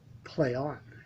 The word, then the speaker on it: Plaion: Now, Ben works at a company called Plaion, Plaion, pronounced Plaion.